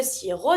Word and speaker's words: sirop: Le sirop d'érable, sirop, you don't pronounce the P. Le sirop d'érable, la sève, bouillir.